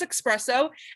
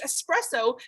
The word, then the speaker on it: espresso: what i'm talking about she says espresso and every single time she says it we all attack her and we say it's espresso because there's no x in the word espresso there's no x in